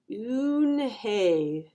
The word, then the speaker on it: Unhei: turned to joey she nodded slowly yes it's pronounced unhei and it means grace mr kim added oon hey joey said slowly and this time perfectly it